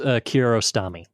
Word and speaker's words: Kiarostami: But our filmmaker here, Abbas, you might have to help me pronounce the last name. Abbas Kiarostami.